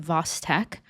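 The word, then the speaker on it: Chvostek: Someone who had a thyroid ectomy, tingling around the mouth, positive vostk sign. That's how you pronounce it. Vosttech.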